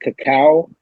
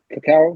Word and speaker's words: cacao: Is it cacao? Cacao, the cocoa plant?